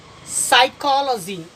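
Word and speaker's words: Psychology: साइकोलॉजी P silent, P silent है यहाँ पर, चूंकि इसके बाद एस है। इसे पढ़ेंगे हम साइकोलॉजी। साइकोलॉजी मनोविज्ञान।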